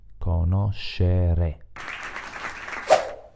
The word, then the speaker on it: conoscere: Ora abbiamo bisogno del suono SCE, formato dall'unione di consonanti SC e dalla vocale E. Conoscer, la R, per finire la E. conoscere.